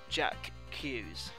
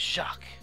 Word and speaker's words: Jacques: with pronunciation no lie i used to think this was just pronounced jack q's but no it's shock which is french for jack so seeing as we